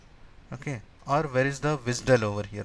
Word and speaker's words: WSDL: Or where is the wizdull over here. This is also pronounced as visdull. Okay. WSDL it is pronounced as visdell. pronounced as say vizdull. WSDL pronounced as WISDL right so you will ask